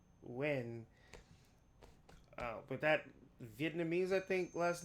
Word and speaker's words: Nguyen: I think the proper name to say it is Wen.